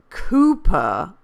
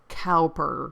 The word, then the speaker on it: Cowper: which, unless it were like Cooper, and I always pronounced it Cowper because I'm an American and I saw the word cow, and his fire at